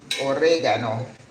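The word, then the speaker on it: orégano: It's written the same, just pronounced a little bit different in Spanish. Oregano. Got to roll your ars. the kid, the students, the Americans have the hardest thing rolling the hardest time rolling the RS.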